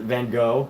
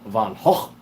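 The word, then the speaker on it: Van Gogh: you look at a van H painting Vincent Van go as Americans like to call him but it's actually pronounced van H um you know it's really hard to create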